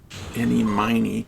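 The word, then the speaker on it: Ini Miney: got to say her their names are supposed to be pronounced eenie miny and Mimi miny like eenie meeny miny mo oh or Min any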